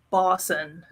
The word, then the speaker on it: boson: many people mispronounce that it's higgs boson like bison except with an o uh properties and it